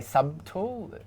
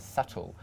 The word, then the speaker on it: subtle: well don't I say sub tool but the B is silent so we we just pronounce it as subtle or Island some of